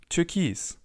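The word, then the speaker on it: Türkis: Turkis. Again, the spelling and the pronunciation differ slightly, but it's almost the same word.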